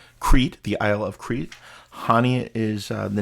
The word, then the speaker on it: Chania: It's Chania. It's spelled Chania, but they call it Chania, so we'll call it Chania.